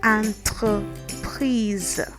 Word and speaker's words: entreprise: EN is pronounced so it's actually like an A sound with a nasal behind it. Okay, so we have, instead of enterprise in English, we would have entreprise.